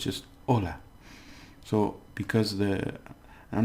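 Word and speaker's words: hola: the beginning which is Ola so we have Ola here now we don't pronounce the h remember so it's just Ola so because the I'm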